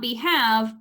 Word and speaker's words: behave: the original base word suddenly our e at the end is not just hanging with the v it's also making our a long for this reason um